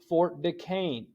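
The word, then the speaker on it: Fort Duquesne: is ordered to tell the French to leave Fort De Caine now that doesn't look like it says Fort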